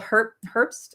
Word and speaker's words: Herbst: And we are talking about your latest Substack post that I'm obsessed with, which is an interview with Bill Herbst. How's Bill pronounced? Yeah. Herbst. Herbst. Yep.